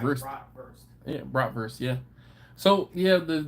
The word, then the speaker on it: bratwurst: bratwurst. Yeah, bratwurst, yeah. So yeah, the W was pronounced like a V, so that's why I said worst, but you know, verst. Bratwurst.